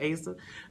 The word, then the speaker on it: Asa: It's Asa, like how it's spelled. A-S-A, I promise, like it's Asa.